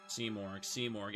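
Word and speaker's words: Simurgh: Seamorg.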